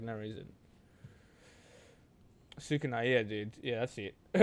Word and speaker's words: Sukuna: Yozuna?